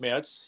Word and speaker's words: Merz: Am I pronouncing that correctly? Merz Academy? Merz, yeah.